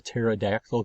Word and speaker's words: pterodactyl: you can't hear a pterodactyl go to the bathroom because the P is silent okay so those are